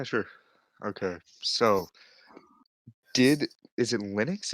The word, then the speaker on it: Linux: Okay, so is it Linux? It's Linux, right? Is that how you pronounce it?